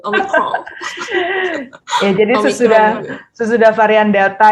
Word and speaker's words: Omicron: Itu bukan, bacanya bukan Prancis gitu ya, Bu? Omicron.